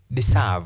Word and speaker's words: deserve: In this case, we do not say deserve. We say deserve. Therefore, because of the long vowel sound we stress the second syllable.